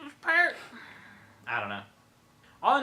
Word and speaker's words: Peart: It's Peart. It's Like, Peart. It rhymes.